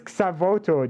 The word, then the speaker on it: Xavoto: It's Xavoto, just like Dano said. Really nice pronunciation, by the way.